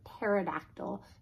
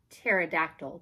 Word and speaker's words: pterodactyl: the letter P and there's no extra silly letters and up front like pterodactyl shut up pterodactyl that starts with a P that's ridiculous a silly